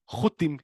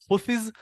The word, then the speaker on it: Houthis: Starts from Houthim in bad Hebrew to Houthis in English. So it's actually taking with my not so good Hebrew English accent, should be said Houthis.